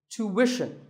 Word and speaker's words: tuition: Well, the first syllable is easy. Tu, American, or tu, British. But after that, it's not ishan, it's wishan. Tuition. You have to put the w sound there.